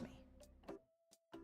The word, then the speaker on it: Mei: Her name is also phonetically similar to the Japanese Mei, meaning dark, but like, that's not spelled, it's M-E-I, because that's how it's pronounced.